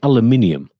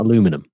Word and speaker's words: aluminium: west coast caramel and like aluminium yes not aluminum aluminium i like my car